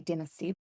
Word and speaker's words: dynasty: I mean we would say dynasty. You have to say it like Taylor would say it.